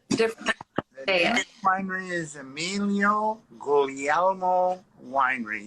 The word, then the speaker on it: Guglielmo: differently refinery is emilio gullielmo winery you kind of roll over that second g yes very good i